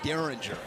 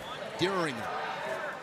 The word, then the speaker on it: Dieringer: Remember a name going back a ways, but Alex Dieringer, everybody called him Derringer. Dieringer.